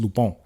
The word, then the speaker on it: Lupin: that it's on Netflix it's spelled like Lupin like l u p i n but it's pronounced lupon it's a French it's a French show